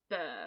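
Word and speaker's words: Mbir: i pronounce the b i would assume it would be a silent m yes i thought so it would be burr so it would be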